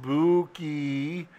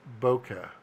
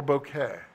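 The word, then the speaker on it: bokeh: and you're learning Jamie I'm you it's not pronounced Buki it's pronounced bouquet or bouquet so Scott when are we shooting a project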